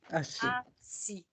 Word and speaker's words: assis: Assis.